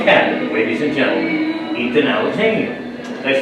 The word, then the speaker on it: Alexanian: Andy Swift from Canada ladies and gentlemen Ethan alexania did I say that right yeah right I